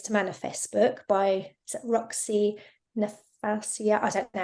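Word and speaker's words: Nafousi: I was told about the 7 Ways to Manifest book by Roxy Nafasia. I don't know how you pronounce the name. Roxy Nafusi.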